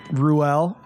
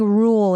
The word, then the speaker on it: Ruelle: just absolutely crushing it Ruell pronouncing it right yes correct how many different wrong pronunciations have you go there's so many I think rule is the most popular though rule so not rule that's like the Mississippi pregnancy yeah for sure well